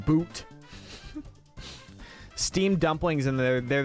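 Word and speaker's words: buuz: Oh, it's pronounced boot.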